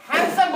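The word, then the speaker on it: handsome: है इस तरह से जिसे हम हैंडसम में दी को सेंड कर दिए हैंडसम बोल रहे हैं वेडनेसडे ने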